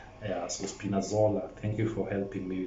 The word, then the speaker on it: Spinazzola: for me to pronounce it, but Frankie can pronounce it for me. The guy who got an injury is called Spinazzola. Yeah, so Spinazzola, thank you for helping me with that name.